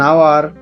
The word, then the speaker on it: hour: এরকম আওয়ারের এইচটি উচ্চারণ হচ্ছে না, ওটি পরের ওটি উচ্চারণ হচ্ছে।